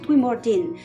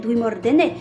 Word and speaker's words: Dwimordene: pour ce nom que le professeur prononce Dwimordin, alors qu'on s'attendrait plus à l'entendre prononcer Dwimordene, étant donné qu'il ne comporte aucun des trois éléments qui doit distinguer la valeur de ces lettres d'une prononciation elfique.